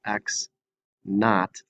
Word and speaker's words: x naught: I do want to make one quick point that this x with a little subscript 0 is pronounced x naught.